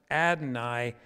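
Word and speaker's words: Adonai: word that that looks like yahweh and is pronounced adnai and in english we write it lord usually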